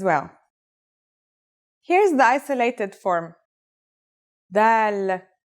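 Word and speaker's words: ذ: This letter's pronunciation is a voiced sound, the, as in this or that. It's pronounced with the tongue between the upper and the lower teeth.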